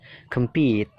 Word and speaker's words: compete: yang kedua ya believe yang ketiga compit jadi pitnya itu Ditekan kemnya itu kan dibaca pecil ya Kem ya jadi singkat kem kem-nya singkat compete competeit-nya itu ditekankan yang keempat complete tinggal tambahi